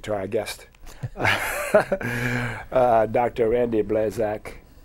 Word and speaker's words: Blazak: Randy Blazak. Did I pronounce that properly? Yeah, that's right, Blazak.